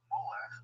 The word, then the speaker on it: Molech: Moloch, or Molech, the Masoretic and the Septuagintal/Vulgate traditions of the biblical text actually contain two distinct ways of pronouncing this name, has become among